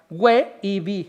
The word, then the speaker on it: weib: Y luego dice ibi, weib, con 2 sílabas, weibi, o sea, weib, vasija para comer.